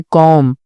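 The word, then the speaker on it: comb: होगा फिर यहां पे कॉम बी साइलेंट होगा वॉक एल साइलेंट होगा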